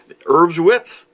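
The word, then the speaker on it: Erbswurst: item is these herbs herbs wits I think that's how the the the Germans pronounce it what they are is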